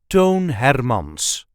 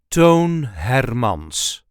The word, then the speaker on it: Toon Hermans: the correct pronunciation is tone hermans tone hermans there is a light emphasis on the first part of the second name tone hermans tone Hermon